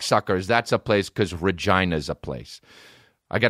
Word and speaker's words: Regina: with their titles and we rhyme with vagina dude Regina are you kidding me